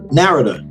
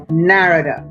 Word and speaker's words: Narada: they totally to the east so the correct pronunciation is narrator narrator yes got it now that I know what